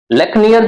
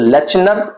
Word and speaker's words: Lechner: लेक्नियर जो है वो आपको LECHNER, this is the spelling, ये स्पेलिंग है। तो लेचनर, लेचनर भी बोल सकते हैं, लेकिन जो ओरिजिनल है वो है लेक्नियर, ठीक है।